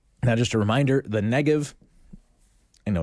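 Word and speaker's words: Negev: just a reminder the negative I know it has a B on it it's pronounced like a V and so sometimes it's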